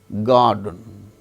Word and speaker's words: garden: There R is not pronounced. Girl, garden, GARDEN.